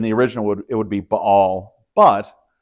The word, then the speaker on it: Baal: to talk about baale sometimes I've heard this pronounced ball um I think in the original it's going to be B all that apostrophe indicates that there's an unvoiced consonant some languages have consonants